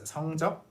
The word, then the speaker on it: 성적: But if you pronounce it with a double consonant here, 성적, it means sexual. Okay? Never pronounce it with the double consonant if you mean grades.